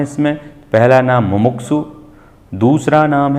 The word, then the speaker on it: मुमुक्षु: मुमुक्षु जो शब्द है, नॉर्मली हम उसको मुमुक्षु बोल देते हैं, सही उच्चारण होगा मुमुक्षु।